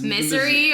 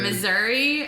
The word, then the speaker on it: Missouri: There like was misery or yeah. Missouri, and then the crooked.